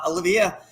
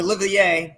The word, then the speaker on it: Olivier: my good friend uh olivia or olivier that's how you say it i say it wrong he's french canadian and